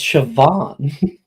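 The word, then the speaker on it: Siobhan: in this no no that's a no it's sioban um kwor so no a conar don't you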